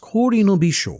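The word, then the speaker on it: 氷の微笑: The kanji portion is pronounced Kori no Bisho, literally meaning smile of ice, and this is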